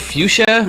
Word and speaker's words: Futia: I'm joined today with is it fuchsia is that how you pronounce it yeah Dan great job first hit